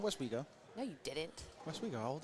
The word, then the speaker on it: Westwego: not Ryan you know it's West weo and not whatever you were saying here we go here we go I said West weo no you didn't West